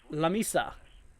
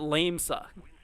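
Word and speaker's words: La Mesa: three inch I believe lamisa says Julie gotcha thank you I was asking I was like I don't know how you pronounce this so I've been calling it lame suck La Misa very fancy uh Saint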